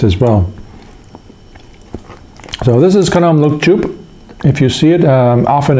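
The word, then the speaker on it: Khanom Luk Chup: But yeah, that is, let me get the pronunciation right again here. Kanom Look Choup, or simply Look Choup.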